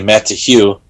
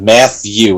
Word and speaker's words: Matthew: my name wait if you actually pronounce it that way when you go m-a-t and then you you break it off to the t-h-e-w and you say matt to hue instead of math u with a t-h matthew hue